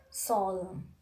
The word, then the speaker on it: solemn: And you know, normally we are not pronouncing letter N if the position of the letter N is just after the letter M. The examples are here: column, dam, solemn, autumn. If you see carefully, all